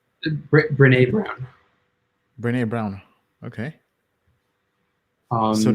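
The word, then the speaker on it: Brené: like um i i have been i've like renee brown is is one person um i think like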